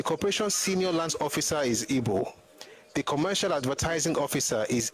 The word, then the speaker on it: Igbo: Actually, it's Ebo, it's Ibo. It's not IGBO.